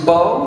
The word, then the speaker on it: Beau: here like i said my name is bo that's spill not spelled b.o too many dukes of hazard jokes they're way too many it's spelled b-e-a-u uh which looks like